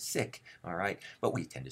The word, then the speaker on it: Sikh: religion we often say see carefully the pronunciation is sick alright but we tend